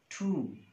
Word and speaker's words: tomb: Ba sound at the end of the word, when it comes after ma sound, m sound, this is phonological rule that this sound is not pronounced. And then come, bomb, not bomb, not comb. So the third word that